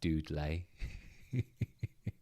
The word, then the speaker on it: Dudley: someone uh just said Dudley is pronounced dud lay uh red Sut oh